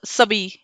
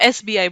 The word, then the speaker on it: SBI: We never call it sabi, right? Sabai कुछ भी नहीं बोलते उसको, SBI बोलते हैं सिंपल।